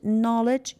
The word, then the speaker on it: knowledge: honest H is silent knowledge K is silent we don't say it